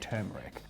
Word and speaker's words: turmeric: pronunciation of the word turmeric? I'd say more often than not, people pronounce it turmeric, but I'm sat here looking at it, and there's an R before the N.